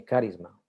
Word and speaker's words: carisma: de los dones plural la palabra griega carisma o carisma se pronuncia más bien carisma los dones del espíritu